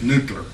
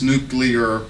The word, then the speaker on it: nuclear: So I kind of say nuclear. Please, it is nuclear. It's 3 syllables, I believe.